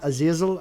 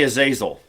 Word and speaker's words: Azazel: the watchers and Lucy just for reference I pronounce it as is no I pronounce it Azazel and Richard pronounces it as I'll just say is asel okay okay okay Azazel